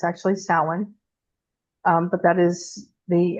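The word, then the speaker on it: Samhain: And some people there's also the old Celtic this a lot of people mispronounce it as Sam Hayne. That is not correct. It's actually sin.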